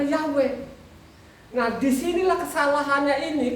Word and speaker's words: Yahweh: B Indonesia masih ada y wuhe ya karena ada tanda masoranya di situ bacanya yahwe Nah di sinilah kesalahannya